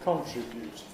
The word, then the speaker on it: contribute: The verbs distribute and contribute are sometimes pronounced with a different stress pattern. Some people say to distribute and to contribute.